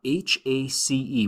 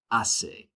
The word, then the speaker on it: hace: HACE, we'll use that a lot to talk about weather. Remember in Spanish, the H is silent, so when we say that, it's like saying hace, all right?